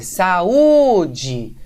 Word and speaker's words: saúde: Então, veja, você vai fazer saúde e você vai ver que a sílaba tônica é o U, não é? É o U sozinho.